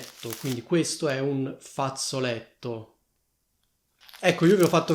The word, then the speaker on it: fazzoletto: Fate attenzione a come si scrive e a come si pronuncia questa parola, perché questa parola contiene due doppie, cioè una doppia Z che si pronuncia come Z e una doppia T, infatti noi diciamo fazzoletto e non fazzoletto, quindi mi raccomando, ci sono due Z e due T.